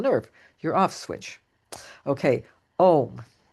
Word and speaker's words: Om: Okay, Om. Om is actually 3 syllables.